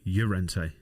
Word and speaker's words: Llorente: Llorente's nominations, Llorente, to give the proper pronunciation.